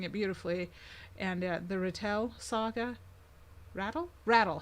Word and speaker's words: Rattle: it beautifully, and the Rattle saga. Rattle. He pronounces it rattle, which I think is probably more correct than me putting the emphasis on the wrong syllable.